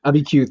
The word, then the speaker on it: Abiquiu: Thomas Church in near Abiquiu, or I don't know how to say it exactly. Abiquiu. Yeah. Abiquiu, thank you.